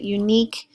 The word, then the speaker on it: unique: word in the document unique the sil accent is on the second part of the word so sorry not sure where I left off there but unique is accented at the